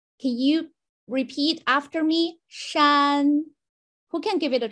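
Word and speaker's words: 山: And this is Shan. Can you repeat after me? Shan.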